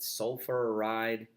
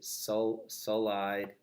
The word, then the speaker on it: sulfide: Is it sulfuride? Is it sulfide? Sulfide.